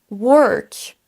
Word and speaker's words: work: Pour tous ces mots, on va prononcer une syllabe, une voyelle entre un son E et un son E. Ça nous donne work, word, world. Pour chacun, on va traîner un petit peu sur la syllabe, mais c'est exactement la même prononciation pour ces trois mots.